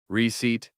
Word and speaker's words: receipt: And our word of the day was the receipt, with the silent P.